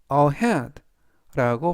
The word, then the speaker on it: ahead: 뜻이 되겠습니다 이번 단어는 ahad라고 발음하시면 되겠고요 이때 강는 중간부분에 있는 2에 강세가 있습니다 품사는 부사 뜻은 앞에